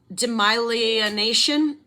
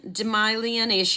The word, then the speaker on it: demyelination: is going to be a tough one to pronounce demyelination domination demyelination I'm going to spell it d-e-m-y-e-l-i-n-a-t-i-o-n demyelination and